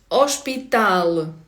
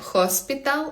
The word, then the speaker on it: hospital: В португальській не читається х звука х не існує. І тому не хоспітал, а у ошпітал.